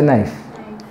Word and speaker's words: knife: It's a knife. Okay, what's the spelling of knife? So do you think K is silent?